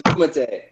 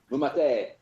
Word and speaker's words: MuMate: It's MuMate. MuMate. MuMate.